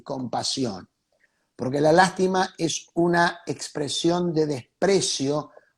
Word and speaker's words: lástima: La lástima, con acento en la primera A, lastima, sin acento.